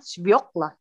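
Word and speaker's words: свёкла: Nah, itu artinya buah bit, bacanya sbioklah. Coba ulang dulu. Siapa aja please ngulang ini. Sbioklah. Sbioklah.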